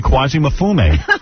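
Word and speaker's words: Kwasi Mfume: It's Kuwazi Infume. No, not infome. Quasi Mafume. M Fu M, isn't it? Quasi Mafi. Pronounced.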